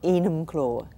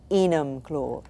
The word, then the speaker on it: Enumclaw: We're in a place that the name I find trouble like pronouncing, M-U... Enumclaw. E-M-U-Claw. Enumclaw.